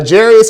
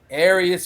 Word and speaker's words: Aries: we've got uh a jerius finley jr running back db aries finley aries finley correction i'm so sorry about